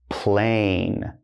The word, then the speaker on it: plane: Then, if I do this, now it's not plan-y. No. Now it becomes, before it was short A, plan. Now, long A, plane.